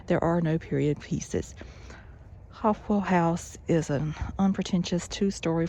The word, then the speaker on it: Hofwyl: Dent affixed the name Hofwyl, pronounced Hofwyl, after the Swiss agricultural school he attended.